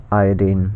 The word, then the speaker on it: iodine: But the nascent variety of iodine, and I say iodine for a reason, because that's the correct the chemist's pronunciation of the term. We say chlorine, right? We say bromine. We don't say bromine or chlorine, because that would be confusing, because it sounds similar to chloride and bromide.